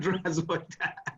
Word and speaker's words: Здравствуйте: 90% Zdravstvuyte.